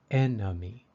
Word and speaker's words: enemy: sound these number three the second e in enemy is a little different it sounds like a short U or or a enemy enemy enemy the symbol I am